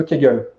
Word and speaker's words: Kegel: c'est ce qu'on appelle les exercices de cagole c'est-à-dire que ce sont des exercices de rééducation périnéale qui égale ça s'écrit Kegel et en fait ça